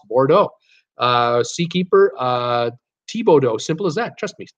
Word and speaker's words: Thibodaux: Robert Brandt at Brittany, those French name like Bordeaux is pronounced Bordeaux. Seakeeper, Thibodeau, simple as that. Trust me, Thibodeau, and Seakeeper would know.